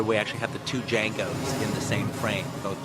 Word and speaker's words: Django: Jamie says Django. Can you spell it? And then he spells the whole thing. And then after he gets through spelling it, I had him say, the D is silent.